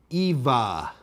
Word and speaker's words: Ewa: Eva. Start with a short a sound and a V instead of a W.